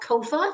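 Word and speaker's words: COFFA: a new Council it's called Kofa just like sofa I have to say that otherwise I will pronounce it wrong every time but the Council on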